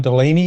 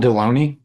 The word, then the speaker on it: Deloney: John Delaney, you said. How do you spell that? John Deloney.